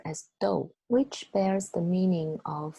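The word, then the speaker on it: 豆: the right bottom part of this character is pronounced as dou which bears the meaning of a food container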